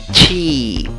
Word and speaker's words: cheap: Aunque la escritura lleva 2 vocales, la E y la A, la pronunciación lleva una I larga, representada por la E con el sombrerito. ¿Cómo pronuncias esta palabra? Cheap, cheap.